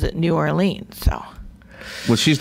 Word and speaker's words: New Orleans: Lang always said Nolans because he's from Nolans, so that's how he pronounced it growing up.